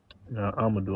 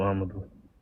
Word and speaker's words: Amadu: Amadu. I'mma do I'mma do what's up.